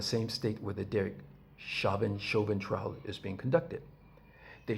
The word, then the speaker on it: Chauvin: going on, the Derek Chauvin. I guess I heard on TV it's pronounced Chauvin, but I was reading it, Chauvin. So I'm reading Chauvin, but I guess it must be French because it's Chauvin.